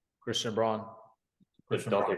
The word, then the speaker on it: Braun: other Brown, not Bruce Brown. Forget his first name. It looks like Braun, but it's Brown. Christian Braun.